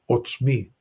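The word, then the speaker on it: עָצְמִי: a comet's hatuf so it's an o a short o sound so we pronounce what's me what's me okay my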